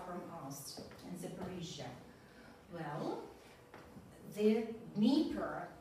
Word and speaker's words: Dnieper: Well, the Dnieper. The Americans say Dnieper. Американцы не могут выговорить Дн, они говорят the Dnieper.